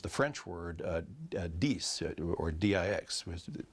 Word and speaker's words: dix: Orleans, they used the French word dix, or D-I-X, was pronounced dix in French.